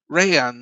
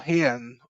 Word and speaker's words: Rayan: Rayan or Hian, I still can't say it properly. The R's are pronounced as H's, aren't they, in Brazil?